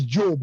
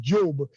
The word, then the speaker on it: Diop: But in Senegal and Gambia, if your name was Abdoulaye Diop, now Diop is Job as well. That's the thing. In Gambia, it's pronounced Job. In Senegal, Diop. It sounds like a P.